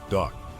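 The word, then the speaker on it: DUKW: The UK W Duck, pronounced duck.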